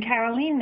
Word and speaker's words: Carolyn: at FCA optimisation so I do pronounce my my name Carolyn and I don't have